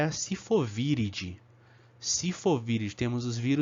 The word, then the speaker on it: viridae: falar como se escreve viridae tá v e r d a e a pronúncia é vir editar virid ok então as famílias